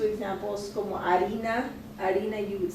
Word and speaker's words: harina: Harina, you would say it, but you know, they would have probably a hard time knowing that it has an H on it. So if you allow them to spell it out and then correct them if they don't put the H, then they're able to say, oh, even though I don't hear the in harina, then they're still able